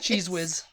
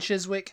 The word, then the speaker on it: Chiswick: like God they say cheese whz cheese whz cheese whiz cheese whz chees Wick cheese whz and Chiswick that's why I don't eat cheese because it's